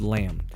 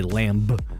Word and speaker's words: lamb: L in talk and the be in the word lamb so we would say lamb but but now we just stop at em so they also had